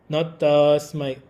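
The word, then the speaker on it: तस्मै: Not tasmai, tasmai, tas, short vowel.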